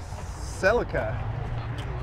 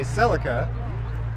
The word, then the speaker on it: Celica: It's Toyota Celica. It's Americans say Celica. Australians say Celica. Sarah Antoon combines them and says, Celica.